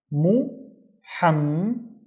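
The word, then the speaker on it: محمد: The first one is moo. The second one, I see a ha, but I also have to pronounce the m in here, right? So, it would be muham. And the third syllable starts with the fata on the ma. So, it would be muhammed muhammed, which is the name Muhammad.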